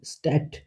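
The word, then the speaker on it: Stadt: ইয়াককে ইয়াককে মানে জ্যাকেট ডেটে ট এর মত উচ্চারণ হয় যেমন স্ট্যাট স্ট্যাট শহর এখন আসি ইম্পর্টেন্ট কিছু পার্টে জার্মান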